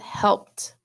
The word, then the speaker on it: helped: Well, Miss Jones, remember, reminded you that ed can say duh, t, and id. So helped. I hear the t sound at the end.